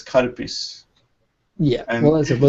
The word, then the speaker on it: Calpis: You must be saying Kalpis, and it's Karpis.